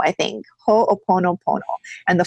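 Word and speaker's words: Hoʻoponopono: Because I don't really know how to pronounce it either. It's Ho'oponopono, I think. Ho'oponopono.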